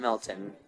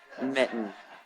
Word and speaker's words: Mitten: It's not Milton. This is how you pronounce my last name. Mitten, not like That's Mighton or good to Milton.